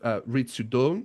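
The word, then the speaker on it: Ritsu Doan: They have Ritsu Don, is that how you say it?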